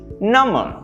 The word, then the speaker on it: number: you thought about this number right notice the missing b there right the b sound is not there but it's still spelled